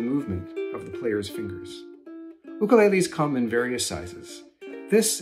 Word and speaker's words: ukulele: ukulele this is an ukulele you may have heard this instrument called a ukulele but the ukulele is a Hawaiian instrument and the proper Hawaiian pronunciation is ukulele the ukulele was developed